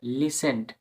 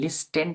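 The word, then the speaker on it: listen: যেনভাবে লিসেন্ড এখানে লিস্টেন না লিসেন এর একটা ভিডিও প্রথম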